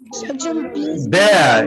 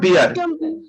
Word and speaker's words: bear: Okay, ये है BEAR, इसको बहुत से लोग बियर बोलते हैं, ये भालू है ना? सर, इसको यस sir this is right pronunciation बेयर। bear, yes, the real pronunciation of this word is bear, not beer.